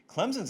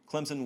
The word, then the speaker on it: Clemson: Clemson with an S, of course, even though I pronounce the Z.